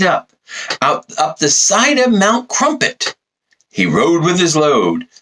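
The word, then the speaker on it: Crumpit: The mountain known as Crumpet, which of course rhymes with dump it.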